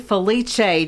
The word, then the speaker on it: Felice: And as you can probably figure out, that was Felice.